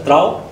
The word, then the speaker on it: Trouw: very interesting right so is pronounced as pro in dutch and that means loyal and why this is